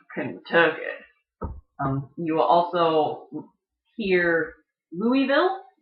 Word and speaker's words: Kentucky: will hear people say everyone else pronounces pronounces it's Kentucky people from that area call it kinda took it you will also hear